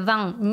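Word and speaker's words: vingt: нос носовым звуком м буква т в слове вам не произносится это по правилам чтения французской закон о но если следующее слово будет начинаться с гласного и леса штаты будет произноситься например словосочетание 20 лет мы произнесем как вам там то есть мы видим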